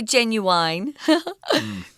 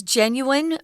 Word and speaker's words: genuine: here just means real don't say genuine sometimes you hear that in America in some of the less educated areas of America its genuine real not phony not